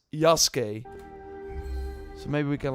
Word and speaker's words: Yasuke: she said it, but she in the game says Yasuke. So I think from now on, so even the developers in, like, that first trailer breakdown they did said it wrong. So we should now, from now on, it's Yasuke.